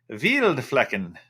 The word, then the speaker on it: Wildflecken: No, that's not how you pronounce it. The W is pronounced like a V. So it would be a Wildflecken.